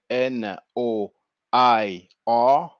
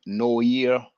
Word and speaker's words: noir: it up noir respect n o i r so uh maybe english speakers might want to pronounce it no year or no i but it's noir and uh you can